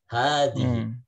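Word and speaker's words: هذه: Nah, kita Hanya sebenarnya panjang pendek, Zat? haknya itu dibaca panjang. Sama baca seperti panjang. hadza, hadhihi. Gitu. Dibacanya panjang gitu ya. Ini ada penjelasannya. Hadhihi artinya ini merupakan bentuk feminim atau jenis perempuan dari kata hadza. Kemudian huruf H pada kata hadhihi ditulis pendek namun dibaca panjang.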